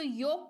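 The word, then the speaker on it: yolk: कहते हैं ठीक है तो योग पढ़ेंगे ओल्क नहीं पढ़ेंगे राइट अगला है एस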